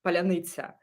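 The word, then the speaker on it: паляниця: But the idea is that only a Ukrainian can say this word properly, palyanitsa. And when Russians try to say this, they would say palyanitsa. And like there are many different pronunciations. They just can't pronounce it right.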